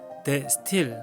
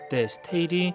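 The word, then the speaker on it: De Stijl: 영어가 아닌 네덜란드어 인데요 얼핏 보기에는 데 스틸 로 발음 할 것 같지만 때 스테이 리 네덜란드 외래어 표기에 맞습니다 테 스 테 일은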